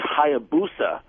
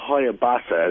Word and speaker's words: Hayabusa: Hey guys, they're just calling to correct Earl on uh the Suzuki Hayabusa, not a Hoyabasa as he said.